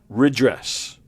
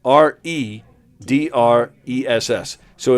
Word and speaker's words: redress: Give me the definition of the word redress. R I D R. No, excuse me. R E D R E S. So it looks like red dress, but it's pronounced redress.